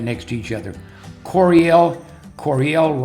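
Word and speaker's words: Coryell: Corel Corel rhymes with Bell and it's Corel right above Bell.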